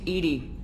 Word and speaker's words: EDI: the airlock is ajar why are you named ed ed is the phonetic pronunciation of Ed I that is an acronym